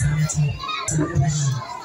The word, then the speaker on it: Zenato: My name, the correct pronunciation of my name is Zenato.